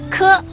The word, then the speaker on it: k: 接着要学的舌根音声母是科，发音就像蝌蚪的科。